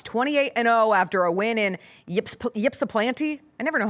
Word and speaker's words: Ypsilanti: The Redhawks, 28-0 after a win in Ypsilanti. I never know how to pronounce it. Ypsilanti.